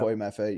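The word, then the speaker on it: Boye Mafe: Is that how you pronounce his name? Boy Maffey. Yeah, Boy Maffey.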